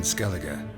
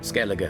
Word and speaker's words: Skellige: What's new in Skellige? Skellige. Okay, I've been pronouncing it The wrong.